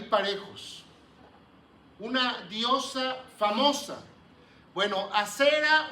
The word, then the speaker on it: Asera: Bueno, Asera o también se puede pronunciar Ashera, era una diosa de allá de Palestina.